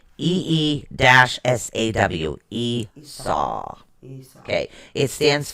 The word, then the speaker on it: Isa: Okay, it's spelled ISA. It is pronounced EE-SAW.